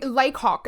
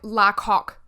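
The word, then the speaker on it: Lacock: I was reading it as like Lok in my head, like like a French person presenting a rooster. Like Lok, that's how I was reading it.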